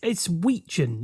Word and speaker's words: Wetjen: So it's Wetjen, isn't it? The Wetjen. Is it? Are we going with pronunciation. Wetjen? Yeah, it's a silent T.